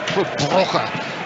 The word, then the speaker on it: Club Brugge: Club Brugge, as Louis van Gaal once told me it should be pronounced.